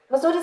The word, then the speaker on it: Mussoorie: और मसूरी का जो नाम है ये हम गलत प्रोनाउंस करते हैं. ये गलत ही, this has stuck now. The real name of मसूरी is actually मंसूरी. That's the correct pronunciation because it comes from Mansura, which is a jhad, which is a shrub that grows in Mussoorie.